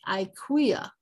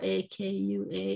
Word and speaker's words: Akua: This is Akua, A-Q-U-A, Akua. And here, A-K-U-W-A-H or A-K-U-A is Akua. So there's different pronunciations even in their native language, their first language.